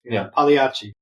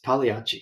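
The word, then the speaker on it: Pagliacci: you were wrong it's the g is silent so what are you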